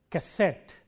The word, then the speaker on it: cassette: In all these words, the stress is on the last syllable, cigarette, cassette and so on.